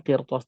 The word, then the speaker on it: قرطاس: Kecuali tadi saya mencontohkan kalimat lainnya, qirtas. Contoh lainnya adalah qirtas. Di sini qaf adalah huruf isti'la, maka berbeda posisinya, maka ra dalam keadaan sakin ini dibacanya tebal.